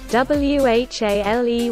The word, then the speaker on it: whale: W-H-A-L-E whale.